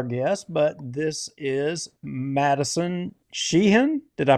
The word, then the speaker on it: Sheahan: not recognize our guest but this is Madison shean did I pronounce it correctly yes shean yes I see people try to say my